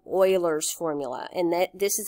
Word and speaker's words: Euler: what it comes down to is something called Euler's formula and that this is a very prolific mathematician Leonard Euler that's not pronounced Euler it's pronounced oil or at least that's what I've always been told